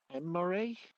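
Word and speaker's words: Imrae: So you know her name is Emre. Wait, how's it pronounced? It's spelled I-M-R-A-E. Emre? Mm-hmm. And I met her 10 years ago.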